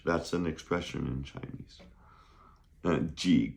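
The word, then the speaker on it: 个: So, the first one we learned was G. That's G E, neutral tone.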